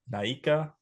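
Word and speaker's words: Naica: Naika, Mexico. Mexico. How's it spelled? N A I CA. You nailed it. Hell yeah. All you have to do is pronounce all the letters.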